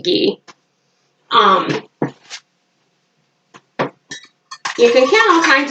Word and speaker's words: ghee: It's like, how do you say it? Ghee? I think you pronounce it ghee.